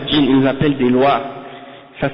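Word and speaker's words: loa: Les djinns, ils ne les appellent pas djinns, ils les appellent des lois. Ça s'écrit L-O-A.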